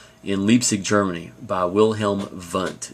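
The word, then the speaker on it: Wundt: leig Germany by Wilhelm vunt it's pronounced with a v um even though it's spelled with a W now that's not too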